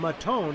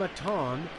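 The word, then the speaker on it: Maton: so like I said film mattone excuse me I pronounce his name incorrectly earlier film atong Phil Mackey and Perez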